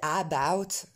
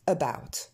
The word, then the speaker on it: about: Normalement, personne ne dit about, vous dites tous about. Donc c'est ce petit son E au début.